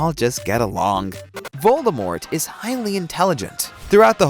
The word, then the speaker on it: Voldemort: method you know keep it simple stupid the pronunciation of voldemort's name there's nothing more embarrassing than realizing you've